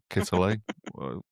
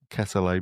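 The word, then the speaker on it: Quetelet: Um, I had to Google how to say his name because it's not spelt Kittelet, Ketele maybe. But he was fascinated by finding, as a statistician, finding the average sort of person, the average man.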